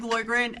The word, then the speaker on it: Loydgren: now Lauren Boyd Ren is my name boy grant and he's actually going to be doing I